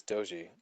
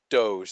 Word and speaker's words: Doge: oh it's doy because of the dog and everything that's Doge sorry not doy Doge Doge Doge so the